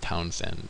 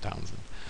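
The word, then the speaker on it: Townshend: towns and tax it's it's the H is silent you know pronounce that H though it's Townsen Townsen towns andx of 1767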